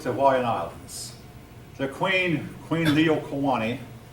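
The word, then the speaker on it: Liliʻuokalani: a Y, but probably the L is pronounced like a Y. Yeah, thank you. Leo instead of Lilo. Liliuokalani.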